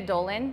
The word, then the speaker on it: Leah Dolan: find you on social socials so my name is spelt Chris kr is last name Gethin GE th en Chris Geffen and Leah Dolan so le aah and then Dolan do LAN